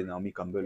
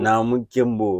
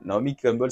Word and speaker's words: Naomi Campbell: appelle la chanson de Naomi Campbell, là, que nous appelons Naomi Kembo. Naomi Kembo, voilà. La chanson, avec une mauvaise prononciation, on dit Naomi Kembo, voilà.